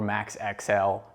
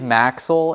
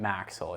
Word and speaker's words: MAXL: There's a lot of different ways we've heard it been called, but it is MAXL, and you can think about it as like Axle with an M in front of it, MAXL.